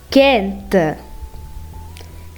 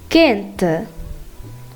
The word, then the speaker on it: quente: But in the case of QU with E and I, you are not going to be pronouncing the letter U, just like the case of G. So, what you're going to do is you're going to skip the U and go straight to the next letter, which is E or I.